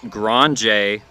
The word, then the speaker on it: Grange: Want to apologize real quick on a couple of pronunciations I've been getting wrong. Alex Grange for the Braves, the third baseman who had that inside the park home run, Alex Grange, as well as Henry Van Oz. Henry Van Oz for the Cubs.